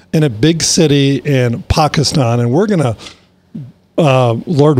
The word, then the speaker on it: Pakistan: with a pastor and pakistan actually is how they pronounce it pakistan pakistan and you know this